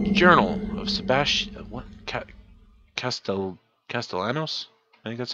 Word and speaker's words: Castellanos: hold on no Journal of Sebastian okay Castel Castellanos I think that's how you spell pronounce it alright finally got my gold badge